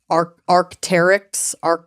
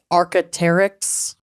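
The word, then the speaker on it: Arc'teryx: Arcteryx. Arcteryx. Yeah, they spell it differently. They spell it ARC apostrophe TERYX, Arcteryx.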